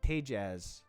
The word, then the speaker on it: Tejas: You pronounce the J. Tejaz.